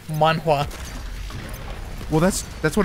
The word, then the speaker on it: manhwa: i hate that name manwa well that's that's what it's called korean manga where does the waff come from because that's how you would pronounce it in korean man come on i'm